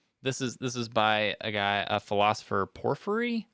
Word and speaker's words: Porphyry: However, this is by a philosopher, Porphyry, I think is how you say it.